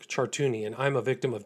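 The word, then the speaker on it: Chartouni: My name is Chartuni and I'm a victim of Jeffrey Epstein and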